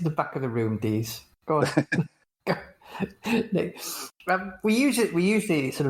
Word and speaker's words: Deas: You see, I have always pronounced your surname as Deas. I didn't know it was Deas.